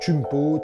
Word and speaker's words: Kouign Pod: Alors, chumpote, hein, on prononce chumpote, donc c'est le mot queen, hein, K-O-U-I-G-N, queen pot, qui est le sens de gâteau.